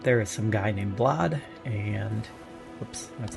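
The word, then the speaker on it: Blaidd: wanted bones it's actually blad with a B it's it looks like it should be pronounced blade it's b l a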